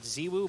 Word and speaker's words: ZywOo: NBK, Apex, RPK, Zywoo, although I've been told it's pronounced Ziwoo, but we're going to Zywoo. We're not going into I'm putting my foot down. It's Zywoo, okay?